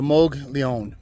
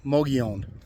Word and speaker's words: Mogollon: l l o n the two L's make a y sound so MOG Leon Mion Mion um so that's